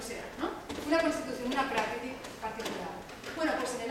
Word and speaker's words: Prakriti: Aquí es Prakriti. Prakriti, recordad que en sánscrito la mayoría de las palabras son esdrújulas. Es Prakriti, es Sarasvati, es Arjuna, es Asana, son esdrújulas, el acento en la tercera sílaba.